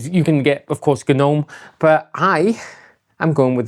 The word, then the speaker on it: GNOME: So I just want to pause here and say, yes, it's pronounced GNOME, even though it's spelt gnome with a silent G, you know, like little pointy-hatted guys that sit in British gardens.